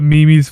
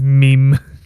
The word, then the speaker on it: meme: just like called up mimi's for a while and then i like realized like huh that's not how you say it it's meme i remember do you